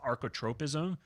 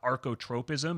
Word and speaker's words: archotropism: If you want to learn more about the laws of archotropism, just look in the show notes on the